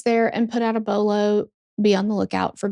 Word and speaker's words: BOLO: Anyway, my reading app lady pronounced bolo so weird. She said they contacted police there and put out a below.